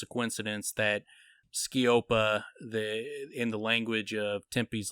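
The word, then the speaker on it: sceopa: Skiopa Teos is spelled, Skiop is spelled S-C-E-O-P. Skiopa is spelled S-C-E-O-P-A. And so it's, I'm not speaking, Skiopa Teos.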